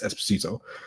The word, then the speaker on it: Esposito: I can't pronounce his last name correctly, but Esposito? Yes, Esposito.